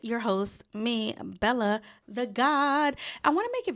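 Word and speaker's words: Gawd: host, me, Bella the God. I want to make it very clear. I say it all the time, even though it's spelled g a w d, it is pronounced God.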